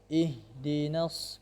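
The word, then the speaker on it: اهْدِنَا: Di sini ada ha, bukan pakai ha, ya. Jadi agak dalam, makhrajnya agak dalam di tenggorokan paling dalam. Ih, ya, ih. Ihdinas.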